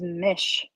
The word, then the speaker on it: Mis: Um, her name is Mish. Even though it's Mis, it's pronounced Mish.